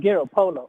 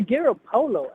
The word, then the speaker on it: Garoppolo: He called him Garoppolo. I said, I'm going to call him that. That's said, Jimmy Garoppolo. That's the Italian way to say it.